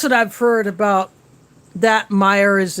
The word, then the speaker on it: Meijer: but they pronounce it meyer when i first saw i think it's like major but it's pronounced meyer i'm guessing that is